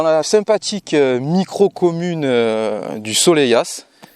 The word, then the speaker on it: Soleilhas: sympathique micro commune du soleillas soleyas ouais ça se prononce comme ça pour le test